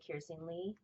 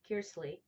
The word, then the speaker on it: Kearsley: So, anyways, I'm reading this book called The Splendor Falls by Susanna Kearsley. I'm saying it wrong. Kearsley.